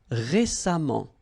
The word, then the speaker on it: récemment: Récent, same rule. Récemment, récemment, récemment. Okay. Then suffisant, suffisamment. And the last example, élégant, élégamment. All right, so let's repeat them one more time. Patient, patiemment. Récent, récemment.